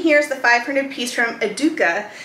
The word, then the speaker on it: Educa: the 500 piece from aduka which i've heard it pronounced a bunch of different ways but the way that they're pronouncing it from those who are in europe um is educa so this one here